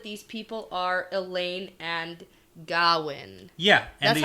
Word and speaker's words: Gawyn: more now that these people are Elayne and Gawyn. Yeah. And That's how I pronounce it, right? Yeah, Gawyn, yeah.